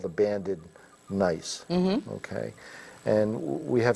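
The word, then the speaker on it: gneiss: GNE ISS okay and you pronounce it nice so this is a nice piece of nice and you'll see here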